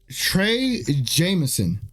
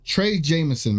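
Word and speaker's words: Trey Jemison: correct let me say his name properly uh Trey Jameson Trey Jameson man uh I thought he gave the team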